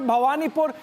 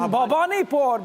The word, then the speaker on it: Bhawanipur: Niranjan I must correct it's not Bhawanipur in writing you write Bhwanipur but when you pronounce it bhavanipur because in Bengal you cannot play around with Bengali like that.